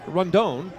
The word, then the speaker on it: Rondon: It's Cleu Luis Rondon. Yep, you got it perfect. There are about 14 ways to pronounce his first name, but that is the way to pronounce it.